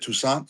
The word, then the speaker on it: Toussaint: Is it Toussaint? Am I saying it right? Toussaint? Yeah, Toussaint. Okay, cool.